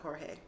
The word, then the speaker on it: Jorge: Well, he goes by George, but he's Spanish, so I think his family pronounced it Jorge.